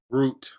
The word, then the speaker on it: Root: Root, like a tree root.